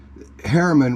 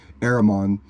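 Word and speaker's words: Éremón: uh yellow and then Herman which is the English Herman is an English derivative it's it's how they pronounce it's actually aramon um his was red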